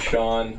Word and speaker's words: Sean: d i s and Sean spelled Sean is spelled s e a n the Irish way despite my fully Middle